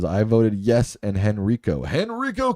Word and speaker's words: Henrico: Henrico County, that's the way I call it.